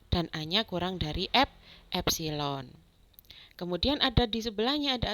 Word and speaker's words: epsilon: Itu bacanya adalah epsilon.